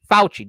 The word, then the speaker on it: Fauci: What's the pronunciation? Fauci.